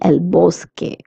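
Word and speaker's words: bosque: Now the word boske it is ending in q. Q U E is pronounced as K in Spanish and not qu. That's why I'm saying elbow K.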